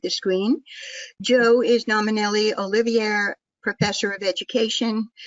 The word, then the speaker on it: Olivier: Joe is nominally Olivier Professor of Education. Did I pronounce that correctly, Joe? Yes. Olivier? Yeah.